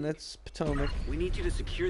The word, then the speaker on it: Potomac: with the locals yeah it's Potomac not Potter Mac well